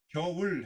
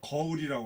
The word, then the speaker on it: 겨울: 겨울 해보세요. 금방 거울이라고 그랬어. 거울이 아니고 겨울. 천천히 해보세요. 겨울 해보세요. 거울이라고 계속 나오네. 그거 발음 고쳐야 됩니다. 이중모음 잘 내야 돼요.